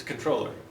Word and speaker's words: comptroller: And Americans will pronounce this how? Comptroller, right? Apparently, though, in French, when you pronounce this word, which is French, it's controller.